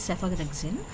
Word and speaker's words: cephalexin: Here pH is pronounced as F, right? So take it as a single letter only, that is cephalexin.